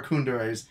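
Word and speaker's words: kuudere: Things that people think are Kundere's that aren't actually Kundere's I like.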